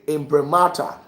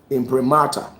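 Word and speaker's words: imprimatur: And when you say impremata, go and check it. I can spell it out for you. Impremata. Impremata. I m p r i m a t u r.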